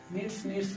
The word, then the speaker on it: kneads: तो first meaning KNEADS, नीड्स मतलब आटा सानना, क्योंकि के साइलेंट रहता है इसमें।